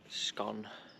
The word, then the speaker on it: scone: down well need warm the scun as well but depend on how you say it lot of people call it scone or if you common call scone another debate cream first